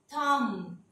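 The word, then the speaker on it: thumb: इसी तरह से अगर एम के बाद बी आ जाता है तो ये बी साइलेंट हो जाएगा, कॉम, थम, लैम, बॉम, ये देखें ऐसे हो जाएगा, ये Baum, lamb, com, B silent हो जाएगा।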